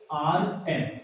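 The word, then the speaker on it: earn: उसका नाम होता है अर्न और जिसको हम क्या बोलते हैं यहां पर आर क्या रहता है सर साइलेंट रहता है फिर से इसको बोला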